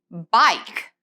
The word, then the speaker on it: bike: Ahí vamos a decir esa primera letra, la I, y no vamos a pronunciar la E. Bike, bike.